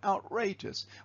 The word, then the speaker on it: outrageous: So for example, in the word outrageous, outrageous, we know the stress is on that syllable.